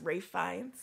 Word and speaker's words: Ralph Fiennes: you ready for this question about how to pronounce ray Fiennes I did you know what I did know